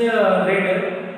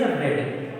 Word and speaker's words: read: Read, pronunciation is red, but actual spelling is same. Spelling is same, but pronunciation is red.